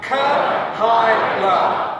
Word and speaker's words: Kahaila: And so it's Kahaila. Okay, we're going to do this together. Kahaila. Okay, one more time. Kahaila.